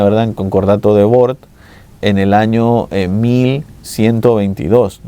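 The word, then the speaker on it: Worms: el concordato de de depende cómo lo queramos pronunciar, ¿no? Pero lo vamos a llamar el concordato de Ward, eh, que si lo pronunciáramos en inglés sería war, ¿no? Pero bueno, lo vamos a hacer como si fuera en alemán porque fue en Alemania, ¿verdad?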